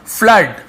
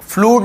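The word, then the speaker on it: flood: ठीक है, तो ये आपका फ्लड, फ्लूड नहीं पढ़ेंगे, फ्लड पढ़ेंगे, स्पेलिंग यही होता है,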